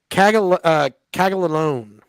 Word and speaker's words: Caglianone: So then, you said for the Royals today, the Consiglione. Yeah, how do you say his name? Jack. Jack Caglianone.